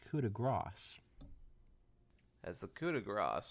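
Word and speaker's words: coup de grâce: his better as the coup de gras she placed actually it's pronounced cuda grass as the coup de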